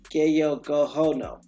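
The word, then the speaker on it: Gayogohó:nǫʼ: how about that so the Cayuga or as it could be pronounce the guy Yoko you Gallo cono or Kayoko ho no which literally means people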